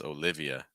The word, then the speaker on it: Olivia: sound uh Olivia Olivia notice that in this case we break the E and the two separate syllables so it's not Olivia it's Olivia Olivia Emma we talked about